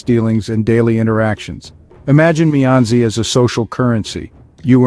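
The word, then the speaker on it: 面子: connections not exploiting them our second word is mezi pronounced as fourth a neutral tone mezi is a deeply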